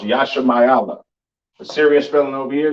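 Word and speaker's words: ישמעאל: understand all right uh Ishmael or the so-called Arabs of today which means God will hear pronounce Yasha mayala a serious villain over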